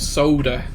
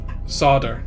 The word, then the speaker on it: solder: Oh my god, this time I've been pronouncing solder wrongly. Yeah, you guys call it soda or in America, don't you? Solder. Solder, that's it.